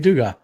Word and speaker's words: Dugas: Yeah, Dave Dugas. That's nice. Yeah. Rhymes with sugar. Not quite, but yeah, we'll make a Cajun out of you someday, man.